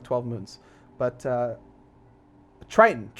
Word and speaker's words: Triton: It's called Triton. Neptune has more moons than Triton. I think Neptune has like 12 moons. But Triton, not Triton.